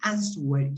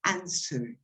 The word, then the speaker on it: answer: sounds you pronounce so you don't say answer word you say answer okay be careful with